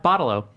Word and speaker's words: bottle-o: Bottle-o. Not a bottle opener. Bottle-o. Bottle-o. Like a bottle of Coke.